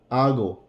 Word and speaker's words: hago: Remember that the H is silent in Spanish. Hago, hice, haré.